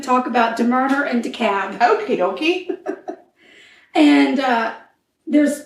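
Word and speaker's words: DeKalb: 1996 okay we're in decab County Georgia which is in decator Georgia decator decab deur and it's weird cuz it's decab but it's de k a lb yeah or deal but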